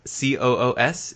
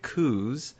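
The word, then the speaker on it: Coös: called The Witch of the Kos uh or C oos is apparently how that word is pronounced I've always been calling it cou or reading it as cou it is the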